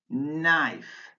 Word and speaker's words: knife: Words with a silent K, knave, knee, kneel, knife, knock, knuckle.